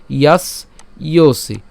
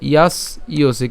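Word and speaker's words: যশসি: ইয়াস ইওসি, ঠিক আছে, ইয়াস ইওসি। কেন ইয়াস ইওসি যে জফলা আছে, দন্তস্ব পর্যন্ত উচ্চারণ করে জফলার উচ্চারণ ইয় এবং দন্তস্ব রসিকে উচ্চারণ করলাম, ঠিক আছে।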